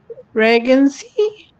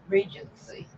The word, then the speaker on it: Regency: pink regy reg how do you say that reany or regeny I don't know regy r e g ncy Regency Regency oh what blue which blue um bird